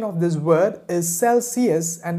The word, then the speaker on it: Celsius: used to call it celsius but when i took a closer look at this word there was no she in celsius so the right pronunciation of this word is celsius and it's not celsius the temperature dropped below